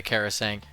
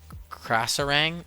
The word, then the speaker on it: Krasarang: I don't just want to go hog wild and start doing half the Karasang. Krasarang? It's really the Krasarang Wilds, isn't it? I've called it Karasang Wilds my entire life. It's spelled Krasarang.